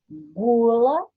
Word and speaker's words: gula: Em palavras como gula, a letra U é pronunciada. Já palavras como guitarra e caranguejo, a letra U não é pronunciada.